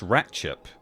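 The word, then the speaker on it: Ratlinghope: Rattling hope is pronounced ratchup.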